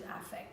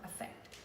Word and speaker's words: affect: So the word is, the way we pronounce the word is affect. It's not affect. It's affect, and it's a noun. Affect is a verb.